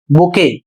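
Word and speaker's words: bouquet: अगला शब्द है बी ओ यू क्यू यू ई टी और इसे पढ़ा जाएगा बुके और इसका अर्थ होता है फूलों का गुच्छा।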